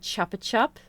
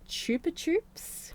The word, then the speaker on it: Chupa Chups: holding the Okay, I really want to say chapa chup, but I know that technically these lollipops are pronounced chupa chups, but it's a classic lollipop we all had in our childhood.